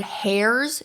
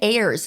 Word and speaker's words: heirs: I was saying the word hairs instead of heirs. Dude, it has an H on the end. Why are we saying heirs? Is the H silent? Okay, apparently the H is silent.